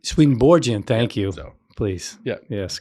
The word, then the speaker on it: Swedenborgian: swedenborgen church in 1999 it's usually a soft G swedenborgian swedenborgian thank you please yeah